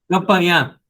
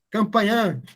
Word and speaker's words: Campanhã: Campanhã. Campanhã. Tem um tio no finalzinho, na última letra A. Bacana.